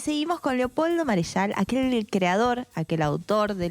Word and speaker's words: Marechal: Pero, bueno, yo le digo Marechal, pero es francés, Marechal.